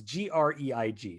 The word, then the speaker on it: Greig: The cinematographer for this is Greg Fraser, who I could be mispronouncing. Let me see. Grieg. It's Greig.